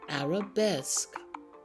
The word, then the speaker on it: Arabesque: also have another word the word Arabesque the q and u can make like a c sound like the letter K Arabesque say that word after